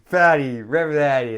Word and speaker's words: Rebagliati: Okay, fatty, Rebagliati. There we go, fatty, big fatty. Yeah, smoke a big fatty during the break so I get it right. There we go. Rhymes with fatty.